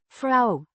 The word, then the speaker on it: vrouw: Fra the drop of tray for tray arrow means woman or wife pronounced fra with the oo sounding like the o in cow.